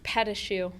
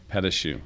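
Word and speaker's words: pâte à choux: and fillings and cake and how do you pronounce this one here? Petachoux. Petachoux.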